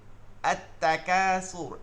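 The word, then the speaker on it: التكاثر: যেমন এই যে আত-তাকাসুর, আল হাকুমুত তাকাসুর, আলহাকুমুত তাকাসুর, দেখবেন মুত তাকে ধরছে, লাম উচ্চারণ হয় নাই।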